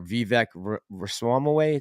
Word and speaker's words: Vivek Ramaswamy: But they're also using it as a Trojan horse, which I think is, and I think the political presidential candidate there, Vivek Ramaswamy, that's how you say his name.